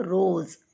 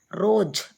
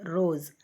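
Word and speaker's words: रोज़: ரோஸ் அப்படின்றதுக்கு ஜெட்டு ஏன் வந்திருக்குன்னா அந்த ப்ரொனவுன்ஸ் ரோஸ் அப்படின்னு தான் படிக்கணும். ரோஜ் அப்படின்னு சொல்லக்கூடாது, ரோஸ் அப்படின்னு படிக்கணும். அதனால் ஜெட்டு வரும்.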